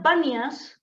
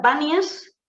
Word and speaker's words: Banias: Perdón, se llama ahora Banias porque los árabes no pueden pronunciar la P, le resulta muy difícil pronunciar la P y de ahí es donde queda Banias, ¿vale?